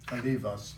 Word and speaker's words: Kalivas: Kalivas is better pronunciation.